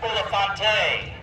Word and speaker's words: Bulifant: Page 7, pronounced Bulifante.